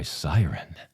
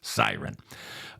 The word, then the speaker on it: Syrn: lace thongs, corsets, and push-up bras, all by Siren. Yeah, it's spelled S-Y-R-N. The slogan is all about the assets. I like that. All about the assets. Siren.